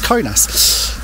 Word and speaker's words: Kaunas: guys um I'm I'm I'm desperate to say Kass but it doesn't I think it's conas but um we like